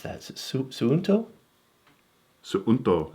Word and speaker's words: Suunto: But this is called the, how do you pronounce that? Is it Suunto? Suunto. Sunto.